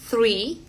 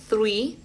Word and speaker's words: three: Eh, por ejemplo, en la palabra pensar, en el verbo pensar, than, think, pensar, than de cosa. Three. Ven que ahí sacó bien la lengua. Three. Th.